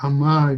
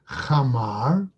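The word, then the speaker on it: חמר: Okay, apparently the Galileans would often drop the chet, okay, and pronounce it more like an aleph or an ayin.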